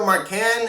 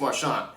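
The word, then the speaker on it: Marchán: season mine i had i kept calling him raphael marcan and it's actually raphael marshawn and i apologize for that if rafael happens to be watching this video i mispronounced his name um and i kept on marcan it's marchand so my apologies uh for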